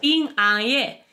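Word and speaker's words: 平安夜: Pues porque nochebuena en chino se dice PINGANYE y manzana se dice PINGGUO y ya sabes lo que les gusta a los chinos los juegos de palabras.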